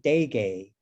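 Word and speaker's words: Derge: just posted it uh he pronounced he pronounced it de gay but i believe uh that in um in chinese it's it might be pronounced burger but anyway yeah but um i don't know how do you write it faith well on the book that i have it's d-e-r-g-e but the pronunciation you said is correct and then which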